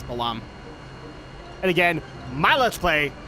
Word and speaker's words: Balamb: it out or Balam I know some people say this bottom garden I'm I tend to say it is Balaam and again my let's